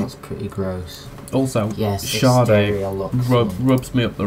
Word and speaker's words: Sade: What It's pronounced Sade.